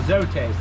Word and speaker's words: Zote: It's called Zote. Some people call it Zote. It depends on who you are and how you pronounce it.